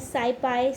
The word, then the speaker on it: SciPy: लिए normal distribution को, उसको हम प्रोनाउंस कैसे करते हैं, साइपाई।